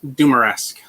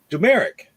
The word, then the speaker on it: Dumaresq: do i pronounce it i pronounce it dumaresque that's the way i would have pronounced it yeah it's it's not how my dad pronounced it actually we changed it when he moved to bc grew up in montreal and he pronounced uh jumeric dumerick yeah okay well you